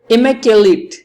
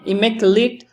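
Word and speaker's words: immaculate: इमेक्युलेट। एक pronunciation ये है इमेक्युलेट, दूसरा है इमेक्युलेट।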